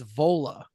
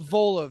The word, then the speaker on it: Vola: 2021 their 2021 album witness the band is vola uh beautiful wonderful metal it's got a little bit of what how do you spell it vola v o l a vola and the album